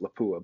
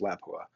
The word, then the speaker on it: Lapua: Americans, we pronounce it Lapua, but I believe it's pronounced Lapua.